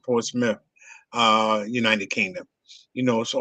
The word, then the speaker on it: Portsmouth: It spells Portsmouth, but they pronounce it Portsmouth, United Kingdom.